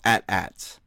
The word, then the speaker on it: AT-AT: it but but anyway it's not an at at it is an atat stop being lazy pronounce it the way it's meant to be freaking pronounced okay that's that's worse